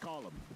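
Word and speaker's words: Colm: Anytime I had to say uh Cole, I hate it because it's pronounced column. You know, it's an Irish name. It's not Cole, it's Colum.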